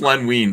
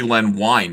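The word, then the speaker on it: Len Wein: wine I think it's Len wean but I it could be Len wine it looks like it's pronounced wine but when I met him it was wean so it's weird uh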